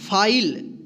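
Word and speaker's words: file: Firm F आई एल ई फाइल इसको फिले नहीं पड़ेंगे ठीक।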